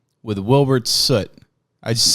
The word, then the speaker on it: Soot: I'm Wilbur Soot, or Soot if you're American, and I run Soothouse. No, I think European or all Americans say Soot.